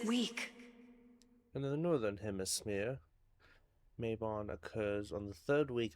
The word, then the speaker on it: Mabon: Try Mabon.